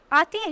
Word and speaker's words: Ate: Okay, and all pity will be choked with custom of fell deeds, and Caesar's spirit ranging for revenge with ate or ate. Okay, ate is the right pronunciation.